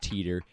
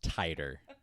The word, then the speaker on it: Titor: not even close and it's not pronounced teeter it's pronounced tighter or something like that watch my name is